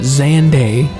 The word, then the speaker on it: Xande: great emperor xande yeah I finally realized they pronounce it xande now and he rose to ranks to become